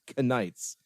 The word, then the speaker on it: Knights: And then his 1,000 Iron Knights, which are named it's consistently pronounced Knights. Like they pronounce the K.